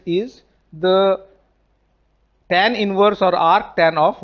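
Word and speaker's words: atan: They are pronounced as ark sine, r cos and r tan.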